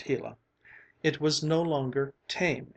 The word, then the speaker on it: Gila: sun Shone down on the hila monster pronounced hila it was no longer